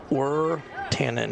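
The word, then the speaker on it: Wirtanen: This might be Nolan Wertanen, I think is how you pronounce his name. Wertanen is how it's pronounced.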